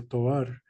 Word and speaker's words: Tovar: perspectivas, like we talked about the colonias de Tovar. Did I pronounce it right? Yeah, Tovar.